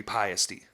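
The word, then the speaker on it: Paiste: I just thought it was paste. Pasty, yeah. I was told by a professional, now, whatever, but it was a touring road person because I did all those, I used to do work production. Yeah. And he was like, it's actually Piety. That's how they say it where it's made or whatever, which I believe they're German as well.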